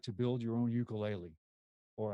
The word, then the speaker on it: ukulele: to build your own ukulele or I should say asked as the purists say the ukulele right supposedly is the correct way to say it you can build your